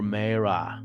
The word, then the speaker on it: Marah: Bitter water at Marah or Marah, depends how you pronounce it.